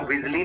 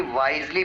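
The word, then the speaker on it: wisely: इसको विली नहीं वाइसली pronounce करते हैं।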